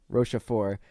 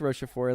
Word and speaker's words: Rochefort: How do you pronounce his name? Rochefort kind of thing.